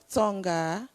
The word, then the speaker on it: Tonga: i don't think i'll forget tonga because there's a song that says it rhymes with corner so it's 12 now it's 12.